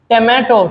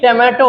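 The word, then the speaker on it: tomato: normal टे होता है टोमेटो टल य टोमेटो होता है टोमेटो बहुत से लोग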